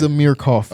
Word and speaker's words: Amir Coffey: I forgot how to pronounce this. It is Amir Coffey.